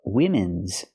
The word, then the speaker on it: women: an important part of women's daily routines you're speaking in general make it plural it's one woman and two women pronunciation use the short I sound like this is for both syllables I I wien women